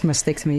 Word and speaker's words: mastectomy: And in all of this, you've also had both breasts removed, which is a double mastectomy. Am I right? Am I saying it right? Yes, mastectomy, yeah.